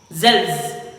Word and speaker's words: selves: பாத்தீங்கன்னா சொன்னா SELVES and pronounce பண்ணீங்க வந்து பாத்தீங்கன்னா Z ன்ற sound வரும் selves.